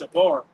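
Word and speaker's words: שָׁבַר: That word broken there in the Hebrew is pronounced shabar.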